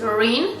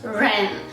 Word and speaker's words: REN: It is salt exfoliating body balm from, some people pronounce it Rin, some people pronounce it Ren, so call it as you want.